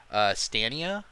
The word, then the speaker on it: Stadia: Division 2 is going to be on Google Stadia, I believe is how you pronounce it.